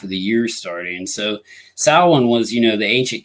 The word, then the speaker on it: Samhain: word right here and it's definitely not pronounced the way it's spelled it's actually uh pronounced salon or salween some people pronounce it different ways some people pronounce it so on but the most common